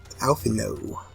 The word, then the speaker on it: Alphinaud: And I'm starting to talk like Alphinaud. I've started pronouncing his name very wrong now. Alphinaud. Not with a D. The D is silent.